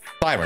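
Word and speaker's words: Thiren: Thyrin, that's how you say it. I got to ingrain that in my brain. Thyrin, as in Jane's thighs.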